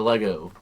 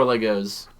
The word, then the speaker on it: Lego: Do you say Lego or Legos? Lego cuz that's how it's pronounced.